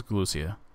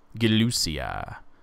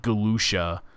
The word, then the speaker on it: Galucia: My name is Galucia. Galucia. Not to be confused with Galucia, which is what most people call me. Not my name. It's Galucia.